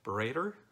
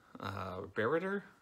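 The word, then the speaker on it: Bereyter: the second character is Paul berate er Barret er that's how I'm gonna pronounce his name who was a German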